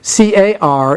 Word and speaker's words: car: rest of the list now car is pronounced car and cdr is just